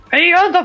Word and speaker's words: Pianta: But the funny thing is, PIANTA means plant in Italian, so I technically said plant. But it rhymes with piranha plant, so PIANTA plant. PIANTA plant!